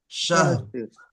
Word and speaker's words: شهر: লাইলাতুল কদরি ليلة القدر খায়রুম ألف شهر শাহ ফি শাহর, লাস্টে রটা হালকা উচ্চারণ হবে, ঠিক আছে? শাহর, সাল শাহ শার বলবেন না, শাহর।